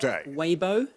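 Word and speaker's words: Weibo: Waybo. I'll accept that. Way I think is how you pronounce it.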